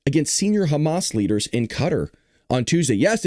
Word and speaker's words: Qatar: Israel conducted a precision strike against senior Hamas leaders in Qatar on Tuesday. Yes, it is pronounced Qatar. A lot of people say Qatar. Both are acceptable.